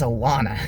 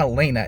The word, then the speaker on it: Alana: I think it's Alana. It's not Elena, it's Alana.